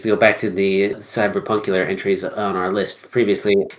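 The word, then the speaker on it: CBR+PNK: go back to the cyberpunk entries on our list previously is a game it's called I'm going to pronounce it cyber punk but it's spelled CBR plus PNK it is a small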